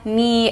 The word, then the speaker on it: knee: We have the initial KN. This one's very common. Not, now, knee, and knit.